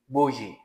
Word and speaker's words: boujee: उसके बाद है एक और स्लैंग सुनने में मिलता है, बोजी। BOUJEE। इसकी प्रोनाउंसिएशन होगी बोजी।